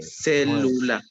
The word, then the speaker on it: célula: Ok, dice, las palabras esdrújulas son aquellas con la sílaba tónica. Obviamente, entre paréntesis viene la que se pronuncia con más énfasis. En la antepenúltima, este tipo de palabras siempre, dice siempre, tómelo en cuenta, ¿eh? Siempre llevan tilde.